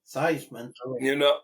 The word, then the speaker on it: Theismann: Theismann. To rhyme with Heisman.